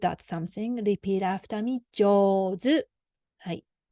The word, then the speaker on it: 上手: 上手. はい. Then this よ is smaller than じ. So then pronunciation to put together 上 sound because we pronounce together 上手.